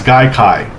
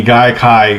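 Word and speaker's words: Gaikai: I said it right his guy K sounds like conjunctivitis or some kind of infection you would catch whatever anyway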